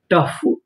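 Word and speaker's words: tough: टी ओ यू जी एच टी ओ इसे पढ़ेंगे ट। यहां पर जो ओ है वो हमारा साइलेंट रहेगा। यानी हमें ओ का उच्चारण नहीं करना। यू जी एच फ टफ टफ।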